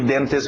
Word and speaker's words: dentist: Pronúncia rápida de dentist, uma palavra conhecida, todo mundo na hora de escutar dentist sabe o que é um dentist. Evitamos os T's, lembra? Então tira esse T.